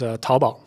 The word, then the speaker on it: Taobao: So another one, Chula Douyin, other than Douyin, is Taobao.